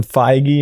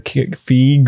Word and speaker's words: Feige: Kevin Feige or Feige or Feige.